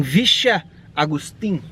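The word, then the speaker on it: Villa Agustín: Estamos aqui em Vicha Agustín. Vicha Agustín de Valle Fértil. De Valle Fértil. Valle. De Valle Fértil. Valle Fértil. Vila Agustín de Valle Fértil. Não pronúncia argentina. Vicha Agustín de Valle Fértil.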